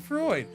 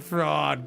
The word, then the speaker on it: Freud: Freud. That's how you say it. Freud. I couldn't remember how to say it. I kept wanting to say fraud. like it's not fraud, cringer.